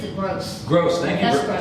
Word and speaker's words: Gross: The pronounces it Gross.